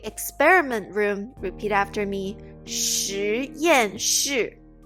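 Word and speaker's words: 实验室: 实验室实验室实验室 This word is kind of tricky because we have the same pronunciation in different tones in the same word.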